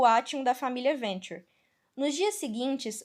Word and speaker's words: Venture: Eu li a Venturi. Ai, que vontade de falar Venturi. Deixa eu ver no Google Tradutor como é que se pronuncia isso. Fala Venturi, amigo. Venture. É Venture.